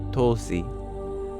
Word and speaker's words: Tulsi: But in Hindi, we've made a habit out of taking out any syllable that just has a short sound in it. So because of that, it's often referred to just as Tulsi rather than Tulasi.